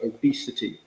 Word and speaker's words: obesity: or i should say the sound of that second syllable um it's an e sound so obesity um is how you